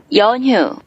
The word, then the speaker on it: 연휴: Sebelumnya kita dengarkan pelafalan dari orang Korea dulu. 연휴, 연휴, 연휴, 연휴, 연휴, 연휴, 연휴, 연휴, Ya, Yeonhyu, libur panjang akhir pekan atau libur panjang tanggal merah.